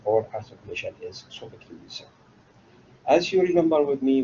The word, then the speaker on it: Sophocles: Someone can Sophocles in Arabic as Arabic pronunciation, but the English pronunciation or articulation is Sophocles.